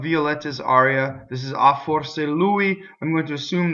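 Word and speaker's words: forse: so the word perhaps for sa is a closed o the are roles because it touches the s in the e would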